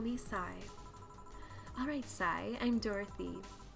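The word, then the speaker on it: Sei: Okay, so you pronounce it say. My bad. I thought it was sigh.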